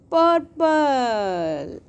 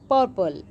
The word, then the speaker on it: purple: The word purple is ending with a silent E. As in apple, purple, P-U-R, pur, P-L-E, pul,